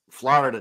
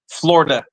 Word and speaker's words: Florida: It's 7 It's 7:00 Florida time. Fights come on at 7:15. Hey, I'm just letting you know we don't pronounce the I.